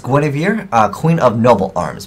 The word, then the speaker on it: Gwenhwyfar: right into it so I believe the name is pronounced GW ofir uh queen of noble